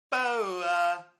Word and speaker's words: Boer: Boer. I say Boer. Did you hear that? Do it again. Hang on. Boer. Did you hear that? No. Okay, it goes Boer.